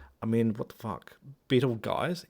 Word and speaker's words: Betelgeuse: Betelgeuse? It's Betelgeuse.